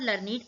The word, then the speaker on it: learned: रहा है वहाँ पर लर्निड कहेंगे, और जहाँ पर ये एज a action word use होगा ही लर्न, वहाँ पर हम इसे लर्न प्रोनाउंस करते हैं, और एज अ डिस्क्राइबिंग वर्ड हम इसे लर्निड प्रोनाउंस करते हैं।